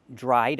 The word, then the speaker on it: dried: The puddle dried up. Pronounce that d sound, dried, dried, dried up.